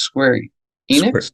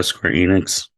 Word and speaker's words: Square Enix: properly pronounce her name I think it's Square Enix yeah Square Enix Square Enix I don't